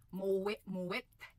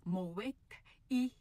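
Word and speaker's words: Moët: And then ang Met Shandong Mwe and Shandong kadalasan nating naririnig. Ako man din nagsasabi niyan pero maniwala kayo sa akin. It is Mowek E.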